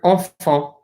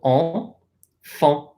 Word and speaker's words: enfant: The word enfant. So notice, EN says en. Then we have another AN here. So enfant.